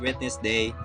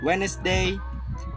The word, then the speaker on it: Wednesday: Yes, silent D, which we have three silent letters. The first is sandwich, and the second is Wednesday, and the third is handsome boy.